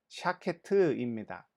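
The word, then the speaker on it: שָׁקֵד: 살구나무에 대한 히브리어 발음은 샤케트입니다. 그런데 12절에 내가 내 말을 지켜 그대로 이루려 함이라 할 때 지켜라는 히브리어는 쇼케트입니다. 샤케트와 쇼케트는 발음이 거의 동일하죠.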